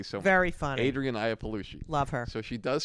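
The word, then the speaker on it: Iapalucci: for a long time I'm going to mispronounce her name uh um Adrian ianucci AIA paluchi Aya paluchi thank you so much very funny Adrian IAH palushi love her so she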